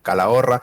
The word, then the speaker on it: Calahorra: eso porque es ese si la chica se pronuncia calahorra en el numancia en osasuna se va no